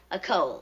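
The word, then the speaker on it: école: reunion of our high a Cole. Oh. That's cute, Donald. That's very cute. A Cole means school in French, and it rhymes with roll and bowl.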